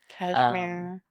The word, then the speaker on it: Cashmere: Cashmere. Super small. Cashmere like the sweater or like the country? It's named after the mountains, but it is spelled like the sweater.